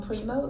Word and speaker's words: Primeaux: I'm your host, Mary Bodwin, and joining us today is Primo. Is that how you pronounce it?